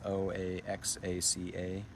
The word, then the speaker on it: Oaxaca: You did spell it right there, Martin. It's Oaxaca.